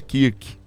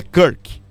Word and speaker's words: Kirk: Gente, o nome é Kirk, tá bom? Algumas pessoas falam, mas é Kirk, tá? E nem é Charlie também, é um, né? O americano pronuncia um pouquinho mais, né?